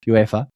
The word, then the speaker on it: UEFA: That's just how it's pronounced, UEFA.